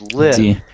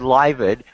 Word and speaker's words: lived: And someone just said livid, and that's the number one way that I hear these mistakes made. We add the id sound on most of them. And so that's exactly what most of us do as we're learning this. So it ends in the V sound, live. So when we're saying the past tense, it's lived, just a D sound.